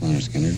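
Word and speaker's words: Lynyrd Skynyrd: picked 8 to go on the first one, Pronounced Leonard Skinner, and several songs, with the exception of a couple like Alabama and Working for MCA, which were newer songs.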